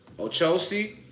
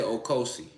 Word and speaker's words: Ochosi: Ochosi or Okosi, however you want to pronunciate it. I like to say Okosi, okay?